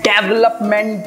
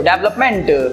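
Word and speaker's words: development: डेवलपमेंट, बहुत सारे लोग बोलते हैं इसको डेवलपमेंट, डेवलप. नो, इसका सही प्रोनाउंसिएशन है डिवेलपमेंट.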